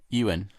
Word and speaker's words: Ewan: i was like that's owen mcgregor you won mcgregor ewok that sounds like a star wars name e1 mcgregor e1 i don't know how to say his name ewan ewan yeah you and mcgregor yeah okay cool yeah